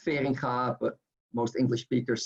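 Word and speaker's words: Feringa: fading car motors so it's in Dutch it's pronounced fearing car but most English speakers say for Inga and and here we see the Finca motors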